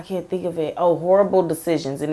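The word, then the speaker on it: Whorible Decisions: Oh, Horrible Decisions, and it's spelled like whore, like you're a whore, but it's Horrible Decisions, and they talk about a lot of stuff on there.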